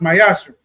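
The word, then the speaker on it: מעשר: Malachi chapter 3, verse 8 through 10 means 10th in Hebrew and pronounced Mayashra.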